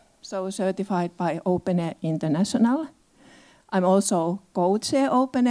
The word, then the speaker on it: openEHR: Open air. We simply say open air because it is easier to pronounce.